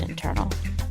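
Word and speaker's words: Intrnl: No vowels, pronounced internal.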